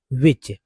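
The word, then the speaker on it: which: सामने आ रहा है विच तो विच देखिए यहां पर आ रहा है विच मींस होता है कौन या जो भी बोलेंगे इसमें भी जो है हु में भी साइलेंट है विच में भी साइलेंट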